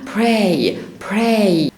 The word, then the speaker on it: pray: او الصلاة ذات نفسها اسمها pray بطلع هوا في البي فبقول ايه؟ pray.